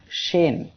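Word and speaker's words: شين: আজকের সপ্তম অক্ষর শিন। শিন অক্ষরে 3 আলিফ টান হবে। সবাই আমার সাথে উচ্চারণ করেন, শিন। আবার উচ্চারণ করি, শিন। শিন অক্ষরটি জিহ্বার মধ্যখান তার বরাবর উপরে তালুর সঙ্গে লাগিয়ে উচ্চারিত হয়, শিন।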